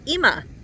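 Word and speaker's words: אמא: But also the alf, no matter how you spell it, there's that alf there at the very end. Not the first one, the last one. So alf often is called a silent letter.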